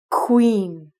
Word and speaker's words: queen: the first word is Queen Queen so if you take the first qua sound you're gonna make it like a kW so it's is like Queen Queen the queen of course